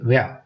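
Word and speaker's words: where: ஒய் ஒய் அடுத்தது வந்து வேர் வேர் அப்படின்னு சொல்லி சொன்னா ஆர் இ ஆர் வந்து அடிக்கடி அழுத்தி உச்சரிக்காதீங்க நான் ஏற்கனவே சொன்னது போல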